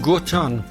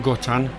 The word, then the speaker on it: Gautron: artist is called christian goton and i believe that i say it my fringe isn't all that good christian goten which is spelt christian and then g-a-u-t-r-o-n played your two songs